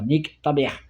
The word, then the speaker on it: nique ta mère: Tu tapes nique ta mère, Nike comme la marque Nike. Hein, et tu mets ta mère en un seul mot. Hein, ça se prononce comme ça, nique ta mère.